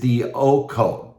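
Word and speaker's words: διώκω: And the word follow in the New Testament, the word follow in the Greek is dioko, D-O-K-O, D-E-O-K-O is the way it's pronounced. D-I-O-K-O is the way that it's written. The pronunciation is D-O-K-O.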